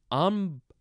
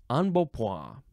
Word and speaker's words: embonpoint: Embonpoint. Embonpoint. I'm going to say that that's close enough. It is spelled E-M-B-O-N-P-O-I-N-T, and the American in me wants to say embonpoint. Embonpoint. But it's embonpoint.